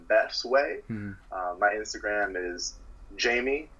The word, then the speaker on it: Djamie: My Instagram is Jamie, so spelled DJAMIE __. Okay. So the name comes from, you ever seen the movie Django Unchained? Yeah. The D is silent.